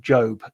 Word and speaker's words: Job: The man from the Bible, Job, we would pronounce him, but he pronounces him Job to rhyme.